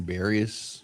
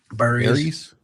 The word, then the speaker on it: Burries: Unfortunately, uh, Braden Barius, what? I forgot how to say his name. Burries. Burries. Burries.